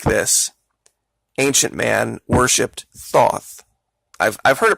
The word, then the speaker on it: Thoth: region and areas like this Ancient Man worshiped Thoth I've I've heard it pronounced a bunch of different ways it's Toth tho t h th basically is how it's